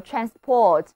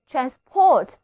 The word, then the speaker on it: transport: 那根据名前动后的读音规律，当它读作 Transport 的时候就是动词，而 transport 则是名词，不过意